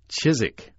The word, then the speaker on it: Chiswick: was an English one it would always be pronounced chisik the W being quite silent so there you go